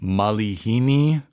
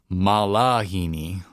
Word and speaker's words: malihini: Lots of times people sing malahini. Malahini oe, malahini au. That is not how you say it. You say malihini, malihini. So lots of E's in there and less A's.